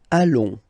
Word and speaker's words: allons: Nous allons. Final S not pronounced, and then when you get this ON combination, you get this nasal on, really in your nose, okay? On.